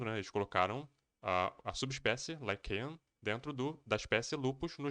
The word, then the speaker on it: lycaon: ó, Canis lupus, e eu descobri que a pronúncia é Lycaon, pelo menos em inglês é Canis lupus lycaon.